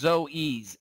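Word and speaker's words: Zoës: around for this I always forget how to pronounce this restaurant it's it's not Zo it's Zoes zo we were kind of big on uh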